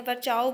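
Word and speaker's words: Virchow: इनका जो प्रोनाउंसिएशन है विर्को भी कहते हैं, वर्चाओ भी कहते हैं, तो आपको जो सही लगे वैसे कर सकते हैं।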